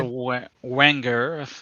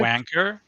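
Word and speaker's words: Wenger: It's a wanger. That's how it's pronounced. I think Wanger, not a wanker.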